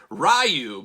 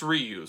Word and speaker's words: Ryu: I mean because uh on the old playground the old arcade when I was a kid you didn't know how to pronounce their name so it was rayu but apparently it's Ryu so so who knows